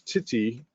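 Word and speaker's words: tithi: The the correct pronunciation is titti um and meaning lunar day and again there's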